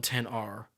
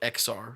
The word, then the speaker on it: XR: Shelby has an iPhone 10 R or XR depending on how you want to pronounce it and her camera